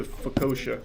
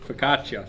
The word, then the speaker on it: focaccia: This time it's the focaccia. That's not how you say it. What is that word? Focaccia.